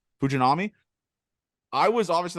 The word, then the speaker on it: Fujinami: that with the pitcher fujinari how do you pronounce it fujinari fujinami I was obviously like I said I was two rows up I was watching this guy he was just sitting 101.